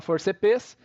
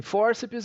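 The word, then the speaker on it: fórceps: A gente não fala forceps, sim, fórcipes.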